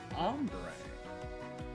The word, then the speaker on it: hombre: The letter h is silent in Spanish. That's why hombre is ombre.